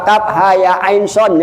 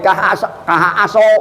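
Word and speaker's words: كهيعص: Hamim bacanya hama. Nah, ya Pak, kaf ha ya ain son kah aso.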